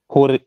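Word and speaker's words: höre: How do you pronounce O umlaut? I'll teach you right now. So don't forget. Just make, you know, say A, like, you know, A of day. Say A. A. Say A. Now try to make a circle with your lips. Okay. And again try to say A. A. Yeah, that's the sound of O umlaut.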